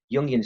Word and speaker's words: Jungian: It's German, so the J's pronounced with a Y. Jungian stuff, Jungian crap, right?